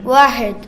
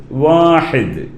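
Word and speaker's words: واحد: വാഹിദ്. വാഹിദ്, വാഹിദ്. അങ്ങനെ നിങ്ങൾ പറഞ്ഞു നോക്കൂ. വാഹിദ്. മോനെന്ന് പറഞ്ഞു തന്നൂടി. വാഹിദ്. ഓക്കെ, വാഹിദ്. ആ ഒരു ഉച്ചാരണം തന്നെ വരണം, ഹ എന്ന് പറയണം.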